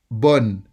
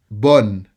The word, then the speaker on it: bonne: Bonne. Bonne. Focus on the sound O. Bonne. Bonne. Don't make it too nasal.